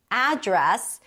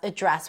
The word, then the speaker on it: address: However, one little caveat is that in the US, the noun address can also be pronounced as address. What's your address? So, address and address can both be a noun. The verb is only to address.